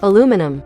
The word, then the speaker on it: aluminum: Cuz it's a rare example of a word that's both spelled differently and pronounced differently. Aluminum, aluminium.